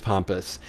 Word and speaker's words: Pampas: the owners at uh pompous pampas pompous i want to make sure i pronounce it right i believe it's pompous they are p-a-m-p-a-s uh they're wonderful folks